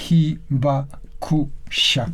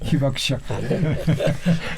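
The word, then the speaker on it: 被爆者: Pronúncielo usted. Hibakusha. Pero ahorita dijo otra vez. ¿Cómo lo dice usted rápido? Hibakusha.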